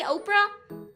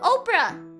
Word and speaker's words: Oprah: the which pronunciation is the person and which pronunciation is the Opera House? Opera House. Opera the lady, Oprah. Opera? Opera is opera. Opera. Opera? Opera. Opera is the person. Opera? Opera? Opera. Opera. Oh, Oprah.